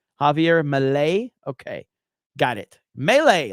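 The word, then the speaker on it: Milei: your pronunciation is wrong it's Malay so it's Malay is how you say it Javier Malay okay got it melee like Melee melee um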